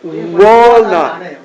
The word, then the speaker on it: walnut: W 하기 전에 모였다가 The same with where. What. Wa. What? Or walnut. Walnut.